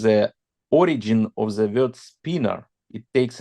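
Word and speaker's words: spinor: be a SP Spiner representation of laen spner spinner spinner use the word spinner it's not Spiner it's spinner the word spinner yes yes that's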